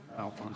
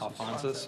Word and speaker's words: Alphonsus: It's a rezoning for the Saint gosh, I know I heard how this is pronounced, but anyone want to help me out? Alphonse. Alphonsus, okay.